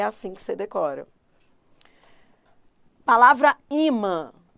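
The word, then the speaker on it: ímã: A mais forte é o I. Imã, não é imã, é imã.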